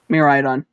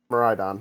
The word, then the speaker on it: Miraidon: Miraidon. Miraidon, okay. It's kind of important, the pronunciation.